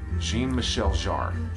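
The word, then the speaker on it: Jean-Michel Jarre: everything now by this artist and this is Jean Michelle jar is how it's pronounced absolutely mint condition and this is on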